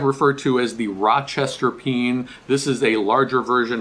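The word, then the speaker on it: pean: cine is slightly larger on the East Coast east of the Mississippi we usually pronounce this pen P aan that's how it spell it's sort of like a bean like a can of beans okay this is a peen now on the West Coast or West of the mississipp Mississippi they'll often pronounce this a peon so you might hear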